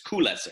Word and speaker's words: Koules: It's called, well, it looks like it's pronounced Cool, the Cool Fortress, but it's Koules, or is it?